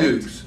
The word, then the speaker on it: Dux: It's spelled Dux, correct? Dukes, right? Yes. And if you look at